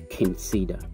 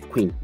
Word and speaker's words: Qing Cedar: People are finding it difficult to pronounce the name Qing Cedar. You know, because of the spelling, they thought it was Queen. No. If you pronounce it Queen, you are wrong.